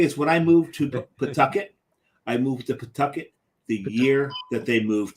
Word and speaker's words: Pawtucket: But the thing is, when I moved to Pawtucket, the year that they moved to Worcester. Which is not Pawtucket, as some people call it. That's not Pawtucket. It's Pawtucket. There's no W. There's no W in there.